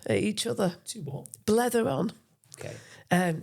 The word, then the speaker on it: blether: Blether on. Okay. Scottish term, I think, blether. Talk. Is it blather? Well, I think they pronounce it blether.